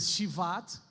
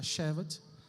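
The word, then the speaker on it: שבט: o mês de chevat chevat é uma palavra Hebraica se nós pronunciar em hebraico vai ser shat mas em português a gente pronuncia chevat e é um mês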